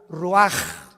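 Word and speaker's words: ruach: Y exhaló Isaac el roach, así como suena. Se pronuncia la ch en hebreo como J. Roaj, se le salló y se traduce espíritu.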